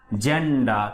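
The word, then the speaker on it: gender: এবং এরপরে আমরা দেখি আরেকটি জিওলজি, ওকে, জেনারেল, জেন্ডা। তাহলে এই শব্দগুলো সবসময় কিসের মতো? জয়ের মতো উচ্চারিত হচ্ছে।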